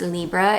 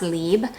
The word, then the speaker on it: Libre: It's not, and it's so funny because I know since I've taken French that it's not pronounced Libre. It's called, it's just pronounced Libre, but I don't know why I don't pronounce it correctly.